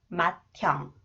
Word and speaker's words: 맏형: 맏형.